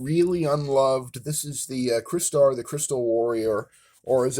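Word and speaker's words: Crystar: How it is that you can pronounce crystal correctly and yet not into it that a clearly crystalline uh action figure a trans beautiful translucent crystalline action figure is named not Kryar but Chrisar because you're about to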